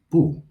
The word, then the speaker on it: 不: note here is that bu is fourth tone, and it stays that way when it comes before any word that is first, second, or third tone, or any syllable. However, when it comes before another word or syllable that is also fourth tone, bu changes to second tone.